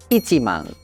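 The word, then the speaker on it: 一万: Sehingga pengucapannya yang lengkap dari angka 10.000 dalam bahasa Jepang adalah ichiman.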